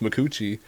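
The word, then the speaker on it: Micucci: And she was talking to Conan, and she's like, yeah, my name actually is pronounced Mikuchi.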